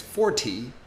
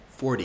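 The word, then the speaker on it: forty: this one sushi now if you're thinking it's 4T that's technically correct but listen to how I say it 40. do you see the difference instead of saying the t y i turn the T into a d for d so if I wanted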